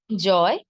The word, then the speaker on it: জয়: তাহলে শব্দের শেষে যদি অন্তস্থ অ থাকে, অন্তস্থ অ এর উচ্চারণ অন্তস্থ অ এর মতোই হবে। যেমন একটি শব্দ জয়, আমরা সবাই নিশ্চয়ই এই শব্দটির সঙ্গে পরিচিত, জয়, তাই না?